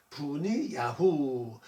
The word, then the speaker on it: 분이야후: 정확하게 발음하면은 분이야후, 주께서 세우셨다.